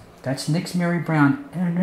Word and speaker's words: Nixzmary: been like two big her I said that's Nick's Mary Brown and her name is spelled funny lee ni x z ma ry